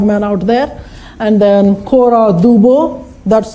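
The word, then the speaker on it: Cora Du Bois: out there and then kora du Bois that's how you pronounce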